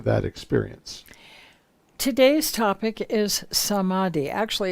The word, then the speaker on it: samadhi: lead them to that experience today's topic is samadhi actually it's supposed to be pronounced samadhi with a brief touching on the pranava or